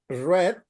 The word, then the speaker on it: read: yesterday okay well now remember red is for all the persons to check if read is in present or past you have to see the context is not easy to identify because it's the same spelling but remember the pronunciation is red red uh only